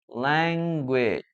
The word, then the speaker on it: language: Okay guys and ah one more thing that I want you to remember is that when you pronounce this word the last vowel is this language language no language language language language language language language Okay.